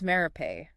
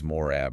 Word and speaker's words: Marape: It's James Marape. Not James Morab or anything like that. We want to make sure we're pronouncing everything correctly.